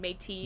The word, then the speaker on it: Métis: Ethan, I heard meaty, like MEATY, not Meaty, matey. yes. He said it right. I just misheard him. It's not meat. Well, yeah, Métis. You just have horrible hearing. And also, nobody pronounces the T in Métis.